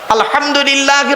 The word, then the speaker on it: আলহামদুলিল্লাহ: আলহামদুলিল্লাহি রাব্বিল আলামিন। আলহামদুলিল্লাহ, গলার ভেতর থেকে হ্যাঁ এটা উচ্চারণ করবেন দয়া করে।